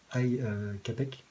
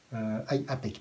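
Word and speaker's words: Ai Apec: ressort, qui est donc Ai Capek. Je crois que c'est comme ça qu'on prononce. Ai Apek, pardon.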